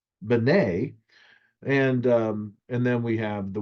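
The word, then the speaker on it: בני: And in this case, it's not just Ben or Ben, it is the plural. So it's Bene.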